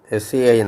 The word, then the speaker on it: Sein: SEIN സൈൻ. അത് EI എന്നുള്ളത് പലപ്പോഴും IA എന്നല്ല I എന്നാണ് ഉച്ചാരണം വരുന്നത്.